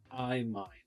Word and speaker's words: imine: me your guess how do you think is pronounced imine imine okay this is imine and how do you read this structure from